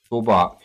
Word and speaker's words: Zorbark: We're going to have to, how do we pronounce that? Zorbork? Zorbark.